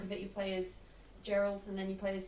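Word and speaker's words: Geralt: I say it's the Gerald I said Gerald all right okay Gerald it's a hard it's a hard G name but you don't call him Jerry The Witcher that's I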